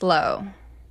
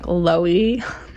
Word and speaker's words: Lowe: I was wondering if it was Loey. No, it's the store, Lowe's.